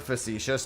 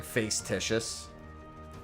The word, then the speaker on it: facetious: You know, sometimes when I see the word facetious, I feel like just saying face-titious, just to upset people.